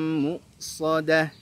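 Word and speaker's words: مؤصدة: Muqsadah, hamzah sukun bukan ain sukun, maka jangan dibaca muqsadah, salah.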